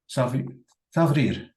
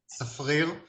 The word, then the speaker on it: Safrir: So one question is from Savrir. Yes, please. It's impossible to pronounce my name. It's Safrir. Forget it.